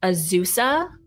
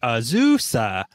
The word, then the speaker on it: Azusa: go to pasadena they go to okay daniel azuza um they drive to that so it's slow